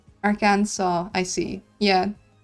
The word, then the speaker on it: Arkansas: Arkansas, I see. Yeah. I figured that I must have been pronouncing it wrong if the joke is see and saw.